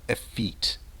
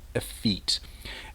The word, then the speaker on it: effete: you may misunderstand me let's pronounce this word together a feat a feat the Str is on the second part and we use this